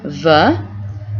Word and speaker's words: veut: Il, elle, and on veut. Pronounced the exact same way, even though it ends in a T.